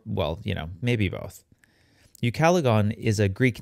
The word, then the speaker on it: Ucalegon: looks like in greek it's pronounced in greek more like ukalegon the proper latin pronunciation